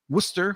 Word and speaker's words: Worcester: think and then um in Worcester Worcester which is spelled nothing like that I had some Jamaican